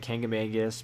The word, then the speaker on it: Kancamagus: the Kancamagus Highway and now I know everybody has their own way of pronouncing that I've always grown up saying kangamangus but this is the